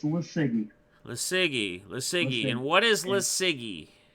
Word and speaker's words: LiSiGi: You can tell them what it is, or pronounce it. yeah. It's LiSiGi.